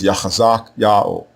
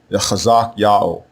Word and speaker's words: Hezekiah: So what the king's name means in this case is Yao will be strong, and the way you pronounce it is Yachazak Yao, Yachazak Yao, Yao will be strong.